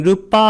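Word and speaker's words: rūpa: 세라는 것은 나머지에 그다음 르빠 할 때 이것을 길게 발음한 이유는 르빠 이렇게 하면 계고 색 그다음에 아르바 이렇게 하게 되면 색이죠 그 색은 물질이고 그다음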